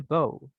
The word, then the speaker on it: bow: And let's hear bow, bow. bow, Bow. Es un poquito de A. bow, Bow. bow, Entre A y O, ¿verdad?